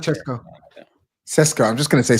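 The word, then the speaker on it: Šeško: So for me, I like the look of how do you pronounce it? Is it Sesko or Chesko? Definitely not Chesko. Definitely not Chesko. Sesko.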